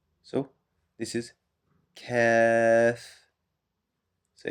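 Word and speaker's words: كاف: This sounds similar to the K in English. So this is Kaaf. So it's called Kaaf, and the letter pronouncing the letter is Ka. Ka. Kaaf.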